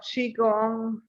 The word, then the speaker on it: Qigong: Tai Chi, and also you're thinking of Qigong, Qigong, yeah.